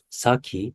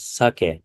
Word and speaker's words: sake: Of course, food is needed, but I think sake, Japanese sake, foreign people call sake, but the right pronunciation is sake.